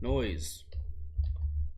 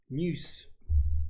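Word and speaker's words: Neuse: Noise. Very weird last name. It spells noose. Noose. Not noise. But he would know how to pronounce his name better than I would.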